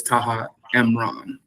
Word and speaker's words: Taha Imran: and the audience can be clear, it is Taha Mron.